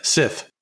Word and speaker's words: scythe: Is it Sai or is it Scythe? Sith. Is it? I thought it was Scythe, but... No, it's Sith.